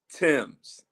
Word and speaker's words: Thames: So, it's Heathrow and and it's Thames.